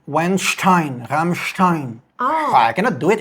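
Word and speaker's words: Rammstein: In German his name is pronounced Ibat Einstein and the band is called Ramstein not Ramstein as many people believe.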